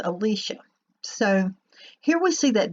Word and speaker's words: Elisha: however you pronounce that always pronounced it Elisha but I've been corrected it's Alicia so here we see